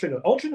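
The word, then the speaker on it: Altrincham: place because it's it's spelled very differently than it sounds don't have a gut in it for a start altering gum why would you have a gut in it gum ALR ham ALR alram ALR ham anyway M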